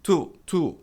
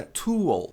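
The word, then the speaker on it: towel: Outro clássico, a maioria das pessoas pronuncia to. Mas a pronúncia correta é toal.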